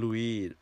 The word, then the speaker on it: Louis: American British English ของประเทศอังกฤษเนี่ยลุยเนี่ยเป็นคำมาจากภาษาฝรั่งเศส is French เพราะฉะนั้นคนอังกฤษเนี่ยเขาจะ pronounce ก็จะออกเสียงให้เหมือนกับต้นตำรับเจ้าของภาษาคือ Louis เป็นภาษาฝรั่งเศสนะครับหน้าที่3นะครับทุกคนหน้าที่3 On Friday evening there was some bad news oh ในตอนเย็นวันศุกร์วันหนึ่งพ่อก็มาบอกว่ามีข่าวไม่ดีละข่าวร้ายJessica is coming to stay, said Dad.